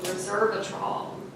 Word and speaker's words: resveratrol: Okay, so resveratrol. Did I pronounce it correctly?